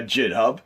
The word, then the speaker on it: GitHub: the libretto organization via jithub i pronounced that jit hub it might be github but ninja gaiden ninja